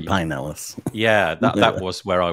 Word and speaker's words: Pinellas: Is it Pinellas County, or Pinellas sometimes County. Locals say Pinellas.